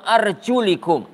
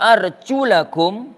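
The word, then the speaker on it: وأرجلكم: uang usaho biruusikum tua arjulakum wa arjulikum ndak Hai tabrak kita baca al-qur'an bisa membacanya dengan wa arjulakum Hai dan bisa membacanya dengan uang arjulikum Hai tapi Janger till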